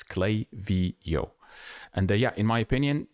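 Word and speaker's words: Klaviyo: It's definitely definitely Clavio. Even I remember Clavio themselves were a little bit upset and they had a page where they uh yeah, basically they put how to pronounce it. It's Clay Vio.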